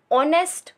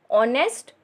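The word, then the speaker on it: honest: यह कौन सा पर इस वर्ल्ड में एक silent ऑनेस्ट ब्वॉय नेक्स्ट door system होता है कि जगह तो एन ऑनेस्ट ब्वॉय वापिस से मैं बोल रही हूं एक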